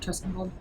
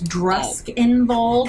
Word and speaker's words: Druskenwald: Have we heard of Druskenwald? No. How do you spell that? DR, it's Druskenwald, God. Druskenwald. Druskenwald. So it's like gotten it's that. like a German Wald.